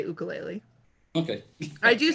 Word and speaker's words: ukulele: Yeah, yeah, that's kind of like how I play ukulele. Yeah, exactly. You know, it's Uh, pronounced ukulele, actually.